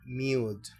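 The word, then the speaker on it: mute: Así que decimos esta palabra que quiere decir mudo, insonoro, sin volumen, sin sonido. Se pronuncia mude.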